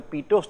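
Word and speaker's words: Pitot: is called as a PTO static tube the last T is silent it's called as a poost static tube and this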